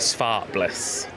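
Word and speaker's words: Zwartbles: They're actually one of the largest breeds of sheep and we pronounce it spartless. So they're a Dutch breed. Um, spart meaning black and bless meaning blaze. So black with a blaze.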